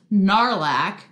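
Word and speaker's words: Gnarlack: the ministry of magic there's also percival graves narlac g-n-a-r-l-a-c-k for any of you considering narlac the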